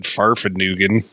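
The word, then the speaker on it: Fahrvergnügen: one of us said farfed nugen I mean we're not bringing that back that I think you mispronounced it but it's not no it's not like Newton like Fig Newtons yeah no that's that's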